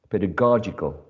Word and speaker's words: pedagogical: next one is pedagogical pedagogical as you can see there is a shift of the stress from the first syllable in pedagogy to the third syllable or syllable number three pedagogical um as a